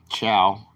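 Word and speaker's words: ciao: Chow.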